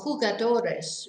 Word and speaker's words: jugadores: players in general are jugadores remember that a j is like a h pronounced like h so quiet it's not